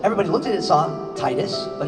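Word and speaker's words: Tidus: was written like this so people always said titus huh yeah but it's actually pronounced titus because it wasn't until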